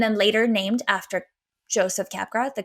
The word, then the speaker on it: Capgras: g a RS but like in French we don't pronounce the last letter um this condition was